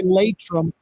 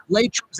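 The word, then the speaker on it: Laitram: That segment every Friday with Michael Heck from Greater New Orleans Inc., always brought to you by Latrim.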